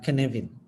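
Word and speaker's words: Cynefin: it's it's uh it's it's a welsh word uh which is pronounced to weird actor word it's pronounced as the canavin right um so i'll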